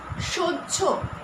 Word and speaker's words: সহ্য: সহ্য, এখানে কিন্তু আমরা কি দেখছি, উচ্চারণটা একটু আলাদা। স হয়জফলা, সহ্য।